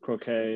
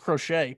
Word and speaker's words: Crochet: got a lot better with croquet or i don't know how you say how do you say his name it's just crochet but they got liam